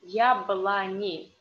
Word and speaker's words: яблони: But here is written о, яблони. But we say яблони. Why? Because the accent, the stress is on я. And these о in unstressed position we read like а.